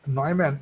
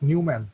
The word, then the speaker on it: Neumann: So this pronunciation is Neumann, it is not Newman.